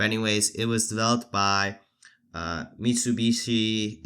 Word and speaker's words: Mitsubishi: But anyways, it was developed by Mitsubishi Industries. I believe that's how you pronounce it.